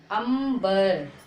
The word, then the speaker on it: अंबर: Okay, पा वर्ग के 4 अक्षर यदि अंग की मात्रा के बाद आए तो हम अंग की मात्रा को मां का उच्चारण निकालते हैं। ओके, इसी प्रकार से सारे अक्षर, जैसे रंभा, अंबर, ठीक है, रंभा, अंबर।